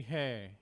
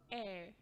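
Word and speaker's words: heir: I hear people say hair, hair, hair. What should it be? Air. Air, air. So you pronounce it as E-R, air, not hair.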